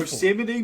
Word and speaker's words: Yosemite: Yeah, dude, Yosemite? Yes. That's crazy. I did unironically pronounce it Yosemite at one stage.